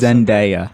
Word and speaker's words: Zendaya: Zenaida. Yes, I always it's mess it up. Zendaya.